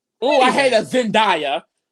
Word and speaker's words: Zendaya: say Beyonce like dummies you hear her name Zendaya oh I hate that Zendaya it's literally Zay z-e-n-d-a-y what do you get